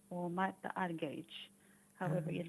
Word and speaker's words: Argerich: major um opus 10 number one by martha argerich or mata arge however you'd like to pronounce your name you say it sounds beautiful